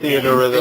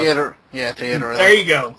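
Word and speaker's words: Theatrhythm: I can't fucking pronounce that. Theater Rhythm. Theater Rhythm.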